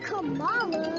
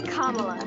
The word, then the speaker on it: Kamala: aren't they I mean it's not Kamala it's not CA it's kamla kamla Harris yeah I just want